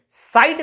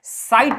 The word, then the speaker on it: site: ये गलत है प्रोनाउंसिएशन, साइड नहीं होता है, साइट होता है।